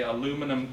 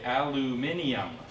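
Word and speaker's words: aluminium: I'm from Canada and in Canada in America we say aluminum can but if you're from England you will alluminium alluminium can because there isn't high mm-hmm so actually both pronunciations are correct for that work you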